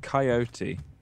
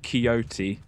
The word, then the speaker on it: coyote: person to do that it's coyote not keyote oh sorry I I